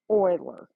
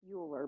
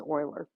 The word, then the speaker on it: Euler: examples okay this is called an Euler it's pronounced Euler okay that's the teacher's name or the professor doctor uh mathematician's name so Euler it looks like Euler but it's Euler so he has a diagram it looks a